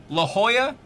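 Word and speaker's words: La Jolla: My favorite favorite San Diego piece of trivia, La Hoya is spelled wrong. They name they tried to name it the jewel which is J O Y A and they spelled that city J O L L A because they just assume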